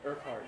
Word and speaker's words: Urquhart: Urquhart. Yeah. Oh, really? Everybody wants to It's a leave weird Urquhart.